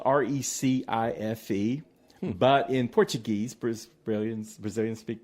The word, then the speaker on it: Recife: And it's spelled Recife, but in Portuguese, Brazilians speak Portuguese, that would be Recife.